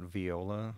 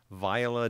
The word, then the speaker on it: Viola: then obviously via they she pronounces that viola not viola which is I thought that was kind of weird but viola dot AI and and